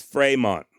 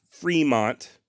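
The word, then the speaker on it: Frémont: an acute accent and when there's an acute accent over the letter E in French is to indicate that the vowel should be pronounced as an a sort of like cafe or puree in other words the correct pronunciation of Fremont in at least if we had a damn time machine the way that he and his father would have likely said the name is Fremont not Fremont and not front like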